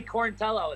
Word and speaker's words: Quarantillo: nervous about it was it good yeah Billy corn tell oh that's why I go by really cute because